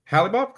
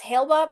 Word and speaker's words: Hale-Bop: Halibop, say hi.